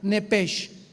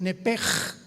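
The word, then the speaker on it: נפש: Enrique, sh, como suena nepesh. Nepesh se pronuncia en el hebreo como j es nepej.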